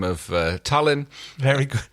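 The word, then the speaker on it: Talyn: A lovely little gunboat diplomat by the name of Tallinn. Very good. I love how you pronounce it like the capital of Estonia.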